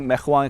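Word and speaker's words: Macron: दिसंबर में मैक्रोन ने ऐलान किया कि जनाब मैख्वा कहें या मैक्रोन के, जो भी आप प्रोनाउंसिएशन बेहतर समझें, दिसंबर के अंदर उसने ऐलान किया कि वो मिस्र को ये तैयारे फराहम नहीं करेगा।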